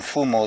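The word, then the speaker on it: Mfumo: just get this straight we calling him F more The Authority MF m o correct mfu m o MF m o yes yes can also mean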